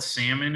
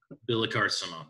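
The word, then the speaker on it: Billecart-Salmon: a card swung and you can call it salmon and it goes really well with salmon but try to pronounce it some Oh and then it's not Billy's car driving salmon you can build a car Simone anyways the lineup that we had we we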